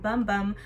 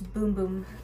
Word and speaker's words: Bum Bum: and I saw that the actual pronunciation of it is not bum bum but it's boom boom cream and then this one